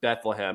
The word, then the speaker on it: Bethlehem: So if you want to find that's where I'm most active is on X, and that's under Sethlehem, which rhymes with Bethlehem.